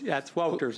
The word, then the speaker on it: Wouters: Woters. Have I butchered your name, sir? Yes, that's I have correct. butchered your name? Could you correct me? You said it correct. Thank you. Woters? It's Wouters, actually.